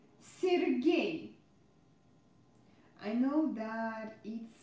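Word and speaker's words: Сергей: Guys, don't forget that unstressed E represents E sound. So, here I pronounce E every time. Alexander. Sergei.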